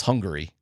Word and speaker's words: Hungary: And it's Hungary because there's an A in there. Hungary.